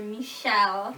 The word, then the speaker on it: Michel: okay like andre cormier he often calls her michelle yeah that's how he pronounces it i guess because his french accent yeah eric makes a